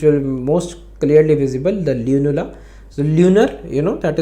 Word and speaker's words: lunula: in this image also Lula okay sorry lunula sorry I'm sorry pronunciation lunula okay this is a